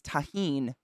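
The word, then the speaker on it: Tajín: lote thank you elote and the spice is tahin thank you i appreciate you guys being nice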